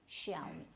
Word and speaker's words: Xiaomi: You have to speak this I. This is Xiaomi. And so this became popular with the Kapil Sharma show because it was one of the sponsors.